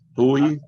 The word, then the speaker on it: Pouilly: Try not to butcher it too much, but Pouilly, no pronouncing the L's, and Frisé, if you had to put a W in there, and 2 E's, Frisé.